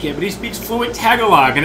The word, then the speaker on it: Tagalog: I butchered the shit out of it. Philippines. Yeah. It's Tagalog.